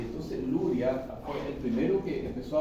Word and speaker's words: Luria: Entonces Luria, en realidad, su apellido no es Luria, su apellido es Luria. Es un apellido ruso que no tiene letras en español para escribir Luria. ¿Ya? Se escribe así como Luria. ¿Ya? ¿Ok? Entonces, así como que dice, digamos, occidentalizado, se dice Luria.